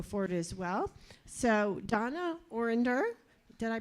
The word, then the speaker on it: Orender: So Donna Orender, did I pronounce that right, Donna?